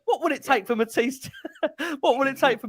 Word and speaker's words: Mathys: Mathys, isn't it? I think. Mathys.